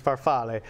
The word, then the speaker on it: farfalle: an adult and again that's farfalle if you want to say the actual pronunciation is farfalle so this is great